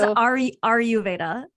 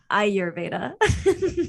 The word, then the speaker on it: Ayurveda: She says, are you Veda? Ayurveda. Ayurveda.